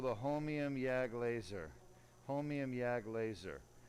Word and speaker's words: holmium: the laser that we use is called the homium yag laser homium yag laser that's spelled h-o-l-m-i-u-m-yag yag stands for yitrium argon garnett